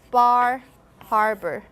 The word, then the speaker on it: Bar Harbor: you elongate The Vow turns out it's Bar Harbor Bar Harbor so uh New England man is in the New England area which also have the r dropping accent so that's why they they transcribe this baaa baaa baaa so uh